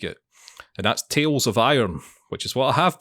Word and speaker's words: Tails of Iron: like it and that's tales of iron which is what i have been playing and it's tails it's spelled t-a-i-l-s and i'll tell you